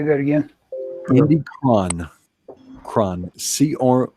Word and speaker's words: Cron: do you say that again he'll be gone cron CR o n Indy cron okay I'm good